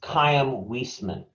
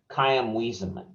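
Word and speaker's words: Chaim Weizmann: became president of israel his name is pronounced kayam wiesman kyam wiesenman george c marshall said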